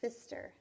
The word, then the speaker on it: Pfister: read hopper by Markus Pfister notice his name his last name he's got a silent P at the beginning of his name and hoppers about a